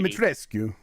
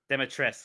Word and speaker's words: Dimitrescu: It's not Skew. You don't pronounce. I know they say that in the game. I guess that's how they pronounce it is Dimitrescu. Demitrescu or something. Demitrescu, I think is right.